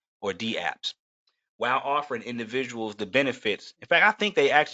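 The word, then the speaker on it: dApps: in fact I think they actually mean to pronounce these as D apps and not daps because it's a capital D and then the word apps so I think and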